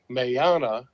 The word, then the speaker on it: Meana: nickname for you miyagi my actual name is mayana which doesn't even look like it's spelled but that's how it's pronounced um and billy was